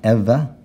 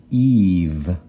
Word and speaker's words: Eve: e at the end so it's not Eva or Eva it's just Eve Eve Eve and last word the